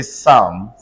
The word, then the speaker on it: psalm: PSALM say Sam.